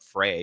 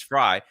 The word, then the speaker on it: Frey: Everybody corrected me for calling him Jacob Frey because, you know, that's how it's spelled. Um but apparently it's Fry.